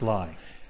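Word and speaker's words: Leigh: chapel in Lee, a chapel of ease, to lie. To lie, yes, which is spelt Lee, pronounced lie.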